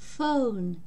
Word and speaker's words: phone: Сочетание букв PH дает один звук Ф, как в слове phone, телефон.